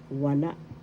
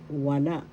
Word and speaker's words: wala: Wala. Wala. That means none. First syllable wa. Second syllable la. The second syllable has the accent.